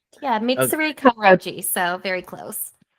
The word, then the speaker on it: Mitsuri Kanroji: Um, Siri can Roachi. Did I say it right? Yeah. Mitsuri Kroji.